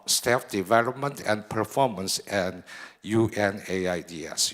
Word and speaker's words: UNAIDS: And right now, she is a Chief of Staff Development and Performance at UNAIDS. UNAIDS, do I pronounce correctly?